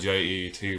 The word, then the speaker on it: Jet: It's spelled with J-E-T, but the announcer on the intercom of the stadium pronounced it as Jet, so that's what I'm going to go with.